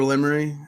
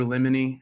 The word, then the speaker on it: Limery: Oh, so it's Limery, and like a teacher said like Lemony one time, but I don't know how they got that.